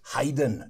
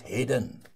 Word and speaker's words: Haydn: through them you know it's Haydn not Hayden and things like that